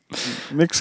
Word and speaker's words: Mx: and no hotter ho I'm pretty sure it's pronounced mix yeah I I don't know how else you would pronounce MX other than mix in my in my head the X makes a that's what it sounds like what's the answer